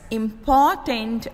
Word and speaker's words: important: The words are said like this: important and impotent. Both words have three syllables. The second syllable in important is said with more force than the other two syllables.